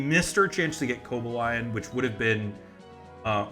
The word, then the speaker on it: Cobalion: Um we missed our chance to get Cobalion which would have been uh or Cobalon whatever.